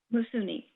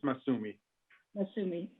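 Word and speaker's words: Massoumi: AND SO GARRETT, WE NEED TO ADJOURN TONIGHT IN HONOR OF AZIZI MASSOUNI AM I SAYING IT RIGHT? RIGHT? IT IS MASSUMI.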